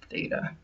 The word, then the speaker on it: theta: And again, that's pronounced theta.